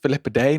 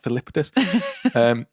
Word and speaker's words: Filippidis: It's pronounced Filippidae, not Filippidis.